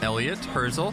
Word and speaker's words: Elliott Hirzel: My name is Elliott Hirzel. That is spelled Elliott on my first name, and then Hirzel on my last.